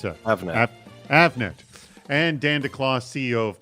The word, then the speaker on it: Avnet: at Avnet or Avnet actually how do you pronounce it Avnet and Dan declaw CEO of Plex track a